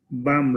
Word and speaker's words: balm: BAM, right? Is the pronunciation BAM?